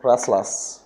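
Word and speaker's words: restless: इसमें टी की साउंड बहुत कम लोग इस्तेमाल करते हैं। सॉरी, रेस्टलेस, वैसे तो इसकी प्रोनाउंसिएशन ये है, लेकिन जब मैंने गूगल पे सर्च करके इसकी साउंड सुना तो रेस्टलेस, रेस्टलेस इस तरह पढ़ते हैं।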